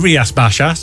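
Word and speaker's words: Rías Baixas: pronunciation here, but uh Rias Baxis Alberinho from uh Galysia. Yeah, I mean Rias Bashas is Yeah, but basically it's near enough.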